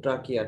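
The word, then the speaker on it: trachea: কর্ডার না, কর্ডার না, ট্রাকিয়া বানান কিন্তু সিএইচ দিয়ে, উচ্চারণ কিন্তু ট্রাকিয়া, ট্রাচিয়া না।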